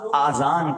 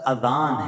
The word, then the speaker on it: اذان: بعض لوگ آذان کہتے ہیں, یاد رہے پہلے اذان کہتے کس طرح ہے, اس کا تلفظ سے بچ لیں. آذان اذن کی جمع ہے, اذن کہتے کان کو, یہ آذان نہیں ہے, یہ لفظ اذان ہے, ٹھیک ہے.